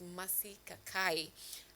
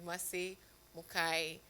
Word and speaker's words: Mari Mukai: sparked conversation that is Mari Kakai and um uh uh apologies Merci for mentioning your your name wrongly. It is Mari Mukai.